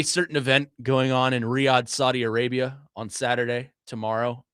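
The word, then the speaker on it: Riyadh: How do you pronounce the uh the the city that it's in? Riad. Riad.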